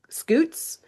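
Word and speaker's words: scutes: Or more accurately, I don't know how to say this word, but it I'm going to say it like scoots.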